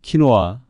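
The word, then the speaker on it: quinoa: 유래된 이름을 가지고 있습니다 스페인어로는 키노아 영어로 는 키나로 발음되며 작은 원형의 나다은 흰색 붉은색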